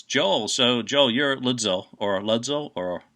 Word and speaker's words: ludzil: So, Joel, you're ludzil, or how do you say it? Ludzil. Ludwig drums, Zildjian cymbals.